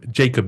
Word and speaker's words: Jacob: do I say um Jacob well uh if you if you pronounce it in the right way in Swedish you say yob yob yob yob